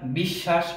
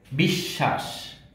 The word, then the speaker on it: বিশ্বাস: এরপরে সূত্রে যাই, যদি আমরা দেখি মাঝখানে বা শেষে যদি বফলা থাকে তাহলে সেই বফলারও উচ্চারণ হবে না, কিন্তু তার যেই বর্ণের সাথে থাকবে সে বর্ণটি দীপ্ত হবে।